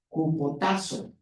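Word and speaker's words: ὑποτάσσω: Y es esa que dice, se debe pronunciar cupotazo.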